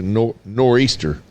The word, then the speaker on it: nor'easter: Yes, He said my country ass probably said it wrong. It's a nor'easter. nor'easter. What did I call it? Nor'easter. Nor'eastern?